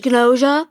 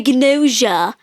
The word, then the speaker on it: Gnosia: JJK and, the English Gnosia. And it's not pronounced Gnosia. We spent this whole time watching Japanese being like, yeah, it's Gnosia. Well, and because it's a GN and that's a N.